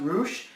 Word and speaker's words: Rush: And we had here the team of Jeff Cobb, Rush, or Roosh, they pronounce it Roosh, and Jay Lethal, of